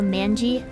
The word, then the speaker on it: manji: Yeah, I'm with the J sound, so manji.